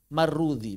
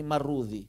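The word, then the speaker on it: Marrudhi: Kalau antum nemu nama pakai dzal marrudzi bacanya ini. Marrudzi kalau pakai dzal. Kalau pakai dzal marrudzi. Kalau pakai zai marwazi.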